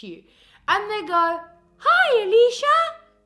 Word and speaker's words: Alicia: like my name is Alicia phonetically pronouncing my name would be like early see ah let's see ah the singer see ah yeah it's pretty simple